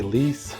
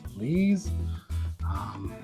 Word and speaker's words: lees: Some people say lease, some people say lees. I believe the correct pronunciation is lees.